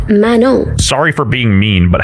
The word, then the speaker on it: Manon: None from Cats Eyes name is actually pronounced Manon.